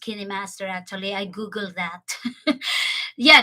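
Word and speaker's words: KineMaster: I use actually the kidney Master yeah it's pronounced candy Master actually I Googled that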